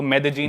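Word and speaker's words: Medellín: Spelling में उसमें double L आता है। मेदलीन होता है। लेकिन कोलंबन स्पेनिश में ल को ज बोलते हैं। तो मेदजीन वो शायद उसकी मेन सिटी है ना उस कंट्री।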